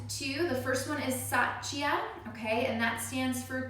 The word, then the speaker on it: Satya: uh the next two the first one is sachia okay and that stands for truthfulness and i'll spell that for you so satya is s-a-t-y-a i